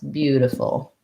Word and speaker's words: beautiful: b u b um this t becomes more of a d bu diff de full and then we have a schwa at the end so first syllable stress beautiful um and we have our dark ol at the end of that okay couple more questions